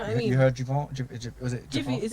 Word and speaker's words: Giveon: Is it Jivian? Javon? I don't know how to say it. Javon? I don't know who you're talking about. You know what I'm saying? You know what I'm saying? Giveon.